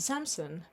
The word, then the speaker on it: Samson: Samsung or Samsung? Samson. Ah, your accent. You have an accent. Water bottle.